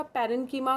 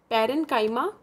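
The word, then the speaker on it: parenchyma: Simple हमने याद किया था पैरेन्कीमा, कॉलेनकीमा और स्कैरेन्कीमा. ऐसे प्रोनाउंस नहीं करते, हमने लर्न करने के लिए किया था. इट is pronounce as पैरेन्काइमा, कॉलेनकीमा एंड स्कैरेन्कीमा.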